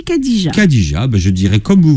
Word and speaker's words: Khadija: Si, il y a un H, mais entre le K et le A. D'accord. Ça sera Khadija, mais on dit Khadija.